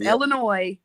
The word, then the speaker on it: Illinois: you pronounce things conversation Illinois or Illinois it's Illinois absolutely there is no s in that word right but okay queen